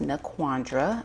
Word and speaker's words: NaQuandra: So, um again, my name is pronounced Naandra.